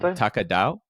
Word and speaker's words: TAKADAO: By the way, tell me if I'm pronouncing it wrong. Taka Dao.